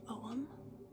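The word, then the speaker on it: ogham: have are om staves oh is spelled o g h m pronounced om and I ordered them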